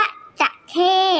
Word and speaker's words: จะเข้: จะ เท่ห์ นะ คะ ออก เสียง ว่า จะ เท่ห์ นะ คะ ไม่ ใช่ จระเข้ นะ คะ จระเข้ เป็น สัตว์ นะ คะ จะ ใข้ ไม่ มี รอ เรือ นะ คะ จะเข้ เป็น เครื่อง